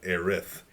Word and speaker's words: Aerith: from from Ihram saris they're pronouncing a riff which is which is correct which is correct like in Japanese in the Japanese version let's do this correctly